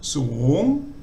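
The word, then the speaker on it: สูง: So suung.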